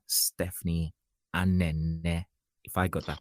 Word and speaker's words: Anene: So, what is the meaning of the name Stephanie Anene, if I got that correctly? Okay, so it's actually pronounced as Anene.